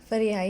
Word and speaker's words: Fariha: I want to say it right. Fariha. Fariha. Yes, you said it perfectly.